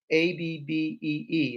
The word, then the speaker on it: Abbee: And so if you want to get some of the monks' Abbey honey, and you see the way they spell it, Abbey, so it's Abbee. It's not Abbey.